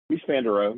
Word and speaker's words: Mies van der Rohe: Is it Mies van der Rohe? Mies van der Rohe.